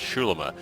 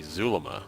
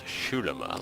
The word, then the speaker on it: Xulima: this game is pronounced schula I've never heard an X make the sh sound like they pronounce this game I would think it would be Zula with a z but evidently it's Shula like an sh obey